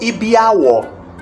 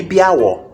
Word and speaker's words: ibiawo: The toes are called ibiawo. All of them. Ibiawo, the toes. Ibiawo. Or we can pronounce it together, say ibiawo. It's called ibiawo, toes of the leg. And ibiawo, pronounced together.